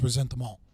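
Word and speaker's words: ressentiment: So it would be properly pronounced resent them all.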